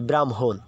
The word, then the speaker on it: ব্রাহ্মণ: হ্যাঁ এই কারণে এখানে যে ময়ের উচ্চারণ আগে হয়েছে ব্রাহ্মণ, বুঝতে পারছো?